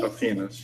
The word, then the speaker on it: affinis: Aphenis, yeah, Aphenis. Affinis, or Aphenis, I guess. Depends on whether you want to pronounce it in Latin or Right. English.